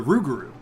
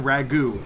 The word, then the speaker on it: Rougarou: of the ruger the rougarou and we played that story last night and taught Faust kept mispronouncing it and he kept saying ragout and every time he did I thought of ragout pasta sauce and I'm like this